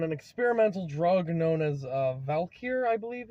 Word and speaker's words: Valkyr: who were on an experimental drug known as Valkyr, I believe it's pronounced. It's just Valkyrie, but without the Cree. So Valkyr, or no, without the Re.